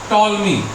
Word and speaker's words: Ptolemy: अब देखो, इनका नाम में प्रोनाउंसिएशन होता है टॉलमी, लेकिन आगे क्या लगा हुआ? पी लगा। याद रखना, अगर टॉलमी, जैसे कभी कभी होता है कि पहला अल्फाबेट साइलेंट हो जाता है, तो याद